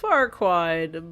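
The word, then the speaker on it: Farquaad: If you if you say his name fast then it says something else. cuz it's pronounced Farquad, but it's something else.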